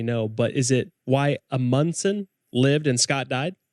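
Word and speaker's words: Amundsen: wrong let me know but is it why a Monson lived in Scott died it's pronounced almonds and so the emphasis is on da okay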